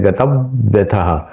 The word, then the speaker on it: गतव्यथ: गतव्यथ, गतव, यहां पे भी व का उच्चारण आना चाहिए, इसलिए गतव्यथ। थोड़ा उस पे ऊपर पॉज, इसको कहते हैं आघात।